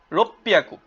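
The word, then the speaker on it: 六百: ইয়ন হিয়াকু 400, গো হিয়াকু 500, রোপ্পিয়াকু। আমরা জানি ছোট সুর উচ্চারণ হয় না, তাই পিটা ডাবল উচ্চারণ হবে, কি হবে? রোপ্পিয়াকু।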